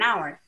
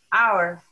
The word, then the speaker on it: hour: A house, but an hour. An uncle, but a university. In the first example, the H at the beginning for hour is silent.